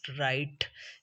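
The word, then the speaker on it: write: Speciality ये है कि जब लेटर डब्ल्यू के बाद आर, लेटर डब्ल्यू के बाद आर आए तो डब्ल्यू की जो साउंड है वो खामोश हो जाती, साइलेंट हो जाती, it becomes राइट। W sound is becomes silent.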